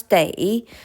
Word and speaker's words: 得: If we pronounce day, that means must.